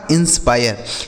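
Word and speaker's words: inspire: यह लिखा गया आपका इंस्पायर। तो यानी अगर किसी भी शब्द में दोस्तों आई लिखने के बाद लास्ट में आर ई लिखा हो तो इस आई का उच्चारण आय हो जाता है, ठीक है, लिखा है आय।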